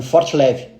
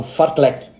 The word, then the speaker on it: fartlek: uma curiosidade uma curiosidade as pessoas confundem fle com Fort leve por uma questão de pronúncia então eu já vi vários vários atletas falando que vou fazer um forte leve só que ele quer falar um forle né então isso é